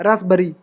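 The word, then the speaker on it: raspberry: कीय spelling होती है अभी तक सोचे होगे कि रस भरी की आर यू एस बी ई आर आर वाई रस भरी ऐसे नहीं होती पी साइलेंट रहता है इसम ठीक है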